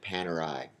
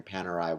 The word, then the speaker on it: Panerai: in at number nine is Italian watch brand Panerai and from what I understand and what I have read that is the correct pronunciation but if I am wrong I apologize